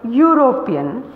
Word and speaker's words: European: school a dog etc some word starts with a vowel letter but has a consonant sound for example European unit Union these letters start with your sound so we put of